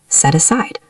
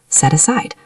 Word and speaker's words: set aside: Because set ends with a consonant and aside starts with a vowel, they link perfectly. Set aside. Set aside.